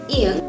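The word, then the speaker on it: 이응: special it's ian so this consonant actually has no sound if it is the one starting a syllable and has a vowel that comes afterwards if this is the consonant that is ending the word then it's pronounced in but usually it is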